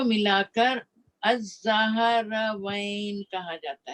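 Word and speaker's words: Azzahravaen: में आपको बताया, तो इन दोनों को मिलाकर अज़्ज़हरवैन कहा जाता है। इसको प्रोनाउंस करना बहुत मुश्किल।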